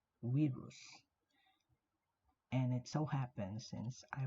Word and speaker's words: virus: Um, V is not pronounced as V, but W. So it's actually pronounced, the word virus, it's actually pronounced as virus, virus.